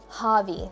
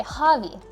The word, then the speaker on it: Javi: I didn't mean to say Javi, but is that how you say it? Is that how you pronounce her name? I've been calling you V, so let me know if you don't want to be called that. Javi? Javi. Okay, Javi. Got it.